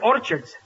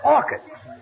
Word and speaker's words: orchids: and bought her some Orchards it's not Orchards it's orchids the CH is pronounced by K oh what movie did